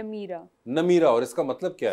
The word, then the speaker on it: Nameera: मुझे पहले तो बताएं आपके नाम की प्रोनाउंसिएशन क्या है? नमीरा।